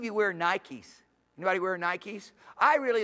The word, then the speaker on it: Nike: Anybody wear Nikes? I really like Nikes. Because Nike is the way to pronounce in English a Greek word. And the Greek word is Nike. And Nike is spelled N-I-K-E, Nike.